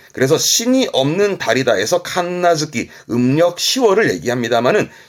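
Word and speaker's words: 神無月: 발음은 칸나즈키입니다. 칸나즈키. 신이 없는 달이다. 이게 뭐냐면 한국에서도 음력으로 이 달을 말하는 게 있거든요. 예를 들어서 뭐 11월이면은 동짓달 그러고 12월이면 섣달 그러고 하는데요. 일본에서 칸나즈키는 10월입니다.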